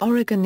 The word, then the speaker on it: Oregon: For example, the final syllable of Oregon is pronounced like the word in by residents of that state in the United States, while in the name of the village of Oregon in Wisconsin, the final